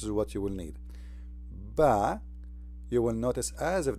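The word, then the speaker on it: ب: However, all the letters when we pronounce them by themselves they come as if there is ah at the end. All right? So, this is ba as we see here.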